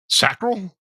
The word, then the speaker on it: sacral: Then it goes up to 417, resonating frequency, or the sacral chakra. Sacral? Is that how you pronounce that?